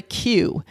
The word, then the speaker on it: queue: When you're going to the ride and you're waiting in the line, the line area, waiting area, that's called a queue.